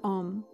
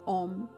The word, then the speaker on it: Om: is the sound of Om. And it is A-U-M, but we can totally just sing it or pronounce it as O-M. It is totally fine.